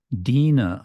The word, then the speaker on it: Dina: Dina, okay, that's the difference. Before we had Sudina, it's a short I, and that reminds us